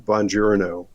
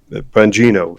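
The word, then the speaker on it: Bongino: go watch some of the videos of Dan Bonjouro um um Banino, excuse me, Dan I said his name wrong.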